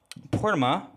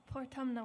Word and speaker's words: Portumna: So this set is called the Portama Workhouse. Is that it? Portumna Workhouse. Thank you, thank you.